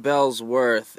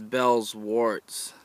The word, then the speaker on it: Bellwort: Okay, it's not Bellsworth, it's Bellsworts. I was pronouncing it wrong.